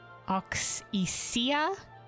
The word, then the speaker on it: Auxesia: Oxia. Do we oxia? All right. All right. All right. All right. All right. All right. Oxia.